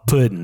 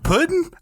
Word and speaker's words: Puddin': one called cookies and then there's one called pudding p u d d i in apostrophe it's the only way to pronounce it it's true especially at Thanksgiving that word makes me feel dirty pudding I went to summer camp with a kid